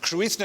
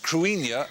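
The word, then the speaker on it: Cruithne: a matter of fact Krishna is pronounced Karenia and it actually celtic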